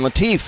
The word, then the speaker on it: Latif: Simon Latif, and that's spelled L-A-T-I-F.